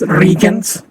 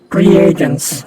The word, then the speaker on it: reagents: word religions as regions i've been pronouncing that as regions my entire life this is my first time hearing that war would be pronounced reagents okay you keep thinking